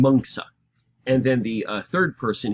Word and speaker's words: Mencius: But their names are more correctly pronounced Confucia and Mengsa.